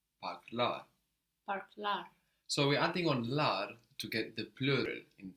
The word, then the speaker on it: lar: So we're adding on lar to get the plural in Turkish. Lar is spelled L-A-R.